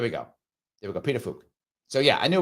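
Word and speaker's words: Pituffik: it is there we go there we go petuk so yeah I knew it was something like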